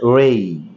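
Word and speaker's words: ray: আর এ ওয়াই আমরা সাধারণত রে বলে থাকি, এর সঠিক উচ্চারণ হচ্ছে রেই।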